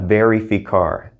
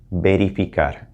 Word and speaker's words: verificar: to point out is that verb it's not very ficar it's more like a soft b remember a v in spanish sounds like a soft b like in the word ben or boy beripikar berifikar all right go ahead and try